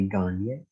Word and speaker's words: Gagné: name correctly uh but i looked it up and they say garnier so we're going to go with that so what we're going to